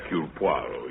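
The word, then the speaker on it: Hercule Poirot: If I may be permitted the once correction, my name is Eul Puarro.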